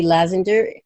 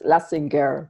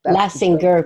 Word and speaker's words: Lazinger: And Lazinger, how do you say your last name properly? Well, it's Lassinger, but Lassinger, because yes, it's German.